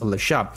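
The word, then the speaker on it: Le Chat: For example, the leat name is actually pronounced lash and this is the correct uh phonetic pronunciation according to this answer from perplexity.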